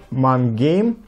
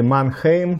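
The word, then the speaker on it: Mannheim: Находится эта пивоварня Мангейм или Манхейм, кто как его произносит.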